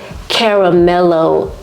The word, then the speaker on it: Caramelo: home and smelling everything I don't think I was pronouncing it right it's actually Caramelo vanilla by new notes